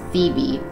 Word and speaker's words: Thebe: Thea is Thea, Phobos is Phobos, Deimos is Deimos, Metis is Metis, Amaltheia is Amalthea, Thebe is Thebe, Ganymede is Ganymede, Elara is Elara, Eupori or